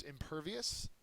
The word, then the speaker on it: impervious: flood next word is impervious and I have Superman there he is impervious to pain uh it's an adjective it's the second syllable is accented and it means not